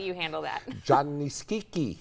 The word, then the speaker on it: Schicchi: show you were just telling me how to pronounce it I'm gonna let you handle that John nice Kiki Kiki yes yes well that's the second part the